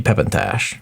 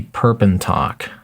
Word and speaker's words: Perpentok: The one exception, of course, is going to be Pepintash, or Perpentash. Perpentok? His name might actually be Perpentok. There's no S there. For some reason, I was pronouncing it with an S.